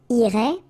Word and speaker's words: irait: So what you can see is that this form, and this form are actually pronounced the same way. Okay, so il irait, elle irait.